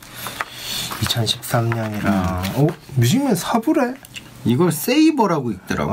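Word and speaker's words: Sabre: 이걸 세이버라고 읽더라고.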